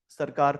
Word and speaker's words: Circar: First one is Utkal coast, UTKAL, Utkal coast, TKAL, Utkal coast slash नॉर्दर्न सरकार plane. नॉर्दर्न is simple नॉर्दर्न, सरकार की spelling is CIRCAR, नॉर्थर सरकार plane.